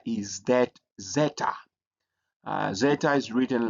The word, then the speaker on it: zeta: But we also have the next letter is that zeta.